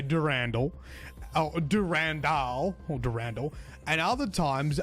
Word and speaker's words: Durandal: Anyway, got some not nice feedback about how I said Durand in the last video. And this ended up being a massive rabbit hole that I spent like over an hour talking about on stream. Actually, Bungie themselves pronounce it Durandal in their Marathon Forge tutorial video that had been uploaded to YouTube.